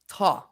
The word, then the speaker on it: Thoj: It does not sound like how it's spelled. It's actually pronounced Thoj. Thoj.